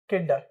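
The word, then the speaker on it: kinda: ठीक है, लिखेंगे तो आप वैसे ही लिखेंगे, लेकिन जब प्रोनाउंसिएशन की बात आए तो आप इसे काइंड ऑफ को क्या प्रोनाउंस करेंगे? किंडा। क्या बोलेंगे?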